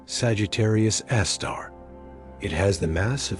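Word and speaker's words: Sagittarius A*: It is called Sagittarius Asterisk, pronounced Sagittarius Aar.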